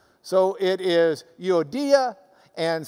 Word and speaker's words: Euodia: does indeed look like Euodia and Syntyche. But if you've got the Greek reading next to it, you might as well pronounce it the way they do. So it is Euodia and Syntyche.